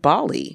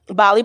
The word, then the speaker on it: Gbale: having a conversation with Bali yes the beautiful Bali the beautiful Bali Bali is of Liberian descent so her name is old GBA le but that is pronounced Bali the G is silent and I think that's